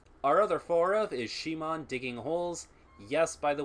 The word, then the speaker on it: Simon: yes by the way I will be calling him Shimon despite the fact that his name is written Simon in English in Japanese his name is written Shi Mong and you cannot change the pronunciation I don't know what